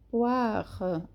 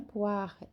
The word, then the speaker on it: poire: J'ai une poire. Aqui também é bem sutil a última sílaba, ok? O R é bem pronunciado da pera. J'ai une poire.